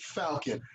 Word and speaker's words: Falcon: I said, "Falcon," like the bird.